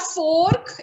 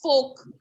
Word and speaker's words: fork: It is folk. It's not fork. It's not fork. Because R is there, you would have told that it is fork. It is not fork. It is folk. ma'am, The R is silent.